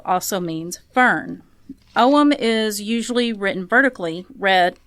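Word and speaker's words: Ogham: is uh it's it's spelled aam but it's pronounced omam it looks quite different from the fuar runes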